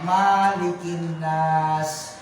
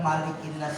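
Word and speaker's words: مَلِكِ النَّاسِ: masih banyak yang membacanya marinas padahal malikinnas itu enggak ada enggak ada huruf mad mendadak ada 12 itu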